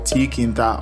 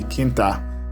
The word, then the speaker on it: tkinter: It has a tool called PyQt5, there's another called tkinter, or you can just say Kinter, depending on who is pronouncing it.